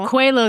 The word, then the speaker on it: Coelho: Coelho, the Alchemist, the author of The Alchemist, Marianne Williamson, Mark Nepo, and His Holiness the Dalai Lama.